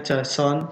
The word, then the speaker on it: JSON: singkatannya itu javascript object atau dibacanya Jason Jason ya jadi dia itu ada